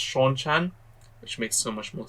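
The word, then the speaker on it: Seanchan: there they've all been gathered everyone except the sinchon by the way uh now that i've finished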